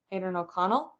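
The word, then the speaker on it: Aidan O'Connell: if I don't know Aiden O'Connor will come adren O'Connell that's how you say his name we'll come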